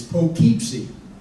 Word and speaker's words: Poughkeepsie: He said, no, Daddy, it's Poughkeepsie. I said, well, no, it's spelled, but it's pronounced Poughkeepsie.